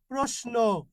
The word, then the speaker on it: প্রশ্ন: থাকে তাহলে কি হবে এই তিন স্বর উচ্চারণ কি করবেন দন্তস করবেন কি করবেন দন্তস করবেন যেমন দেখেন প্রশ্ন কি করবেন প্রশ্ন এই ভাইয়া শিক্ষার্থী খেয়াল